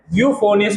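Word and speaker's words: euphonious: बेटा इसको प्रोनाउंसिएशन कैसी होगी, बेटा ई से नहीं होगी, इसकी प्रोनाउंसिएशन कैसी होगी, ई से इसकी प्रोनाउंसिएशन नहीं होती है, इसकी यू से बोलेंगे। क्या बोलेंगे, लिखा जाएगा ई से, बोला जाएगा बेटा यू से, लिखा जाएगा ई से, बोला जाएगा यू से।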